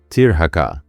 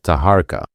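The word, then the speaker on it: Taharqa: Tirhaka. That's the Hebrew pronunciation of Tahara.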